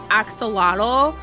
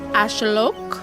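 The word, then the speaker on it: axolotl: So it is accepted to pronounce it as axelottle but it's uh more accurate cuz like that's not an English word, right? It's more accurate to say ashelok.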